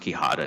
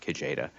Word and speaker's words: Quijada: counsel in that case it's pronounced quihada not kojeda and delent versus delin